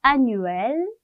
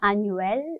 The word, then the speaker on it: annuel: 읽어볼게요. annuel 이거든요. annuel, 르 아니고요. annuel 하고 끝나요.